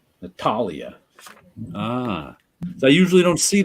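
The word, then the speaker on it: Natália: that mean an accent it's the stressed syllable Natalia yeah ah okay Natalia ah they usually don't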